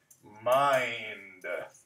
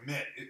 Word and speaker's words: mind: Mit. This is another tricky one because it looks like it should be mit. End. It's mind.